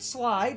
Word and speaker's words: Sleight: But, we will learn when we find Leon that we have slates. Some people pronounce it slide, as in sleight of hand, slates. Because it's a card. Slates. Or slide.